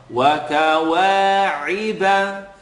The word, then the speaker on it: وَكَوَاعِبَ: Wa-ka-wa-iba. Here's a lot of times we don't pronounce this correctly. Iba, ri. I want you to allow the ayn to have an e sound.